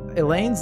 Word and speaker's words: Elaine: I was calling her Eileen in the original playthrough. I'm pretty sure Elaine's the correct pronunciation.